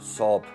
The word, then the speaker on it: Saab: Mit staatlichen Hilfen und Privatinitiative einer Gruppe von Großindustriellen soll die Pleite der schwedischen General Motors-Tochter Saab, oder wie es richtig ausgesprochen wird, Saab, verhindert werden.